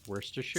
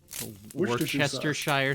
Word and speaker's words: Worcestershire: garlic onion Worcestershire um you pronounced it right I did Worcestershire so many people can't do it Richard sure chestershire sauce a lot of people look at it and try to say that I mean it's it's